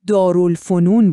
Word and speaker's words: دارالفنون: یه چیزی که علم و دانش رو تو خود ایران تولید کنه و اون راه حل بزرگ تأسیس دارالفنون بود. دقت کنید به تلفظش.